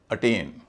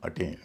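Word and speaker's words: attain: इसलिए यहां इसका उच्चारण ए ही होगा। एक्सप्लेन इसी तरह अटेन A double T ए आई एन अटेन।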